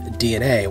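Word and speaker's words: DeNA: Alright, so the first topic is going to be about Nintendo's partnership with DNA, which is spelled D-E-N-A.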